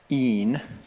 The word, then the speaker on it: in: in Latin the word I in een is how it's correctly pronounced can mean either in